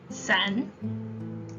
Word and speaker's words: 伞: Umbrellas are also a bad idea to give as gifts because the Chinese word for umbrella 伞 sounds like the word for breaking up.